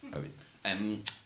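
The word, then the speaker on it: Eoghan: Just thinking about my friend whose name is spelled Eogan. Welsh rather than Irish. Owen.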